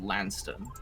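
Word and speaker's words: Launceston: from uh it's okay it's spelled l-a-u-n-c-e-s-t-o-n and it's i believe lanston good i can't spell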